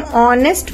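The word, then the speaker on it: honest: यहां पर जब हम ऑनेस्ट मां ब्रेड करते हैं तो इसका जो साउंड होता है हा का वो साइलेंट होता है और साउंड कैसे आता है ओ ओ का साउंड ए रहा है यानी जो आपका हिंदी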